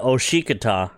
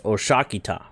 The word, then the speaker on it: osik: for the ITA part so it's not osik it's osak there there's a real big